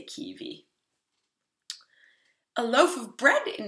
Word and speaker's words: kiwi: Keep in mind that in Norwegian, W is pronounced like a V. We call it W, double V, and it's just pronounced like a V. So we say kiwi.